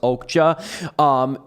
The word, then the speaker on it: Okja: So the film really revolves around them taking the super pig, which is named Okja. It's Okja, but it's pronounced Okja.